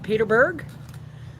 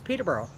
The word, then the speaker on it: Peterborough: Some people call it the Patch. Some call it Peter Patch. Some call it Peterburg. Some call it, Petertown, but it's Peterborough. Peterborough.